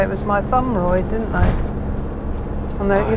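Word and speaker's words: Mytholmroyd: and sign managers used to say it was my thumb right didn't they and that you said a leaflet how to pronounce it did we yeah my thumb right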